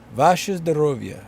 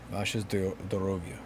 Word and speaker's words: Ваше здоровье: Vashes Dorovia. Vashes Dorovia. So that's that I gotta phonetically it. O is not silent. Yeah.